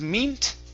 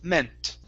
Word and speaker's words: meant: um this word here instead of meet okay it's a short e sound it's meant meant okay very nice and